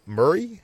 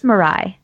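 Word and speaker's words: Murai: America and Atlanta hero Murray I think is how you pronounce it or Mirai it's Mirai hey is helming a new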